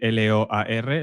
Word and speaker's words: Loar: Se escribe L-O-A-R, Loar. Loar, para nosotros.